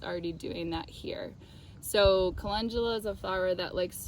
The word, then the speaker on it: Calendula: I used to call it Calendula because I liked the name, but it's actually pronounced Calendula, or most people pronounce it Calendula.